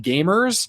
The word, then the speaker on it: GVMERS: It's called Gamers, but it's spelled GVMERS. So instead of A, it's a V.